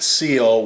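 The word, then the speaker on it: coel: Oh as in sponge this one looks like koel pronounced seal what is that what's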